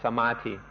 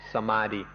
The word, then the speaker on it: samadhi: so now we'll talk in some detail about samathi thai pronunciation is and often you'll hear foreigners pronounce it samadhi so same word samadhi is something that all